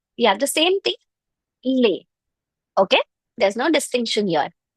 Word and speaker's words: les: Yes, it's lay. Lay. Please make sure you're not pronouncing it as l or lee or lays. Not at all lays as well, okay? It's just lay. You can remember it as layover. Layover. So lay.